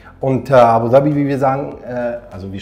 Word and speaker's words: Abu Dhabi: all those who didn't know it is indeed abuabi and abuabi as we say so that's how we pronounce it by the way yes, I know